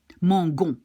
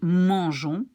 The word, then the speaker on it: mangeons: this letter followed by A-O-U, you pronounce it like G. Mangon. Which is not right because it's the verb manger. So to keep it mangeons, we put this extra E. And then we can pronounce it like mangeons.